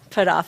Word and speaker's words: Putthoff: Maybe you'll tell me first. Put off.